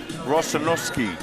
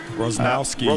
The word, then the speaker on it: Rosnowski: Here the referees, Elijah Monaco and Blake, excuse me for this misprononunciation, Rosenoski. Rosnowski. Rosowski. As I was corrected.